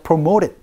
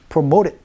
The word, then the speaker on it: promoted: 이렇게 promoted 이지만 T 사운드를 살짝 굴려서 promoted, promoted 이렇게 발음하는 걸 많이 들어볼 수 있고 여러분이 많이 연습을 해주시면 좋습니다.